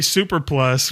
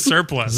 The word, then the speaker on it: surplus: was too expensive and that the military Super Plus was just as good instead of surplus.